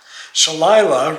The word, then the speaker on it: Shalila: Shalila, rhymes with Delilah, says, right now, none.